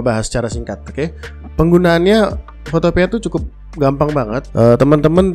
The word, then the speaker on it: Photopea: Yang pertama adalah Photopea. Ya, Photopea, bacanya Photopea, ya, bukan Photopea, ya, Photopea.